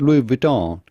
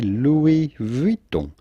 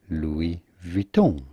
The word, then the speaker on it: Louis Vuitton: about pronouncing louis vuitton with the typical french pronunciation well it's not louis vuitton but do not insist on the final end